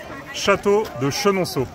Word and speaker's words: Château de Chenonceau: And we need to know how to pronounce the castle. Château de Chenonceau.